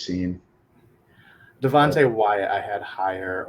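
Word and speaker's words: Cine: I always say his last name wrong too. I say Sign. That's It might be incorrect. Sign. I think it's Scene.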